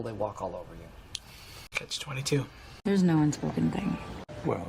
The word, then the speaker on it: catch-22: This is 2 words. It's a compound noun. The word catch is just 1 syllable, and then 22 is 3 syllables, and the stress is on that final syllable. Catch-22.